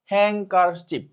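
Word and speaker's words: handkerchief: একটু খেয়াল করো, দিস সাইলেন্ট লেটার ইন হ্যাংকারচিপ, অর্থাৎ মানে এই যে একটা শব্দ আছে, এই শব্দটা এখানে মূলত সাইলেন্ট লেটার কোনটা।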